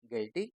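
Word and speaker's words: guilty: जी यू E tongue ji यू आई एल टी वाई यू को पढ़ना ही नहीं है तो जी आई एल टी वाई गिल्टी ऐसे आप सीख लीजिए जी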